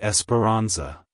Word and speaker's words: Esperanza: roll of the bar like Hello esparanza Goodbye Esperanza if you found the video helpful hit the